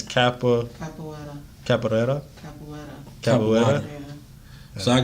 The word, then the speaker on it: capoeira: It's Capoeira.